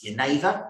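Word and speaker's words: jenever: main ingredient juniper but the dutch word for juniper is yaneva spelled with a g um that's quite hard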